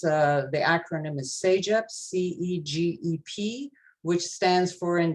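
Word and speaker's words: CEGEP: a in French it's uh the acronym is seija c-e-g-e-p which stands for in the English translation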